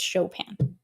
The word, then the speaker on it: Chopin: I've just never cared enough to like look up the pronunciation of his name. So, it's Shopan.